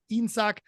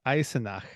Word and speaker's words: Eisenach: car manufacturer VEB Automobilwerk Insak from 1956 to 1965. Did I say it right? Variations. I have no idea. VEB Automobilwerk Eisenach. There we go. There's an extra syllable in the middle there.